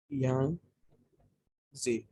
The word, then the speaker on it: Yangtze: इसको यांगते भी बोल देते हैं रिवर, यांगते, YANGTZE, यहाँ पे स्पेस नहीं है मेरे पास, यहाँ पे लिख देता हूँ, यांगजे, यांगजे रिवर भी बोल देते हैं, चैंगजियांग या यांगते।